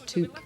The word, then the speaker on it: Took: What we discovered, when we discovered that the proper pronunciation is took, I did a little